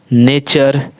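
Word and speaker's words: nature: आगे देखिए फिर अगला है, कहा जाता है जब किसी वर्ड के लास्ट में टी यू आर ई आता है तो टी यू आर को चर से उच्चारण दे देते हैं। जब किसी भी वर्ड में देखिए टी यू आर ई आ जाता है तो उसका उच्चारण चा दे देते हैं, चर दे देते हैं, चा और रा चर देते हैं।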